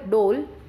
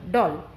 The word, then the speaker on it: doll: the all dawn okay it's not pronounced as a dole it pronounces as a doll over here o double